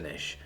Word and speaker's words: Niche: replied though I think they pronounce Niche with a long eye said you learned something